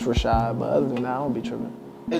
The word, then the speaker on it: Rachaad: then they you know if they ask me like oh did I say it right it's like that then I'll be like it's Rashad but other than that